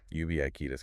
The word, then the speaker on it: ubiquitous: How many How many syllables is that? Four. Four syllables. Yeah. And the stress is on the second one. UI. Ubias.